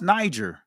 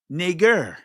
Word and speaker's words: Niger: twisted and turned, but it's not pronounced Niger. It's Niger.